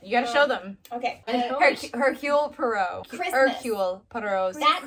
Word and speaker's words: Hercule: You don't pronounce the H.